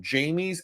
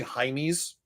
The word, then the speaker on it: Jaime's: Just Google Jamie's at Blue Reef. It's actually Jaime's, but us Americans, we don't pronounce it that way.